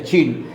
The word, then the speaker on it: Qin: Y ponía, aquí pone que el nombre de China en castellano procede de la dinastía Qin, que allí se pronuncia Qin. Y aquí se pronuncia Qin.